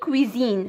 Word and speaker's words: cuisine: موستاش والموستاش اوكي نمشيو ان كويزين كتكتب اس وكتنطق زد كيما كتشوفوا اس جات